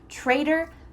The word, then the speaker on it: traitor: Even though this word has a T, it sounds like a D. Trader, trader.